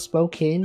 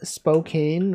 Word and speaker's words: Spokane: People out here saying Spokane rhymes with cocaine.